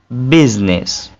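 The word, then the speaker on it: business: ये साइलेंट नहीं होता एक लफ्ज ऐसा है जहां पे साइलेंट होता है वो लफ्ज कौन सा है बिजनेस बिजनेस ठीक है यहां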